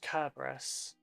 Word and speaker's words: Cerberus: Does he pronounce it Cerberus or does he pronounce it Kerberos? Because, like, at the time, the language had no soft C sounds, so Cerberus is technically pronounced Kerberos.